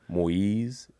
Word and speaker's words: Moise: man all right and my name is m-o-i-s-e moyes and i got to help people pronounce that moyes and um